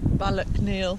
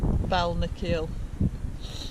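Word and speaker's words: Balnakeil: beat but did I I think you said Ballack kneel and it's bowel Nikhil we stayed at both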